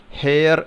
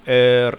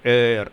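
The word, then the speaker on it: heir: ആറും മാത്രം കൂട്ടി വായിച്ചാൽ എയർ എന്ന് കിട്ടും എയർ അതാണ് ഇതിൻറെ ഉച്ചാരണം ഇവിടെ എച്ചിന് ഉച്ചാരണം ഇല്ല അത് സൈലൻറ് ആണ് അപ്പോൾ വിത്ത് നോ എയർ അവകാശി ഇല്ലാത്തതുകൊണ്ട് ദി വില്ലേജേഴ്സ്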